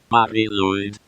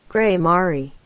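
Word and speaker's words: Mari Lwyd: Next up, from Wales, we've got Marie-Lude, spelled as and pronounced Marie-Lude. Or, if you're an English speaker in America, pronounced Grey Mari.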